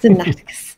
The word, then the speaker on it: Sinaiticus: what is the Codex Sinaiticus? If I'm not saying it right, please correct me. Sinaiticus. So basically, at least that's how I've heard scholars say it.